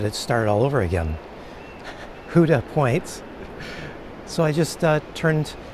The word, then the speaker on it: Houda Point: I believe it is Huda Point. In fact, she said uh on the back of their land trust t-shirts, they have it written, "Who do you love?"